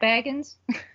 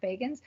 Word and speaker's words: Bagans: So Zach Baggins, I said it wrong. Zach Bagans, you're not going to go.